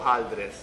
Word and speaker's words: hojaldres: Well, there's two ways, hojaldras or hojaldres. There's a little like discrepancy there on which is the right one.